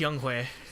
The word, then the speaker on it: Younghoe: Yeah, apparently it's pronounced Younghoe or something like that.